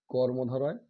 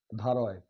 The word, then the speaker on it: কর্মধারয়: দ্বন্দ দয় বয় দন্দন দয় দ্বন্দ তারপরে কি কর্মধারয় কর্ম ধারয় অনেকে ভুল করে একটু অন্যরকম উচ্চারণ করে ধারায় বলে কিন্তু দ্বারা কর্ম ধারয়।